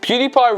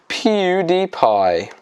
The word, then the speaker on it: PewDiePie: add than pewdiepie himself pewdiepie rhymes with ksi and cry and pie so technically is the